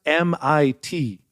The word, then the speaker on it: MIT: It's pronounced MIT. That's what he said. You were, by the way, when he first got in there, he called it Mitt over and over.